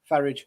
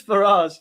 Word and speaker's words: Farage: Faridge. Why do you say Farage? Because Because he's not Well, isn't that his name? It's Farage.